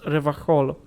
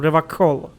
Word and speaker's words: Revachol: Like, the C and H in the Polish would be pronounced Revachol. Like, you know, like there wasn't a C there. And I thought that he pronounced it like that, like Revachol. But apparently he pronounced it with a hard K, so Revachol.